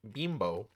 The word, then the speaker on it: Bimbo: It is from the company Bimbo, which I am told is pronounced Bimbo, but You know, a guy can dream.